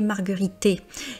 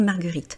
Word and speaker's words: marguerites: mais par contre marguerite vous avez le s à la fin qui est en fait simplement la marque du pluriel et la marque du pluriel en français est muette donc la marguerite les marguerites.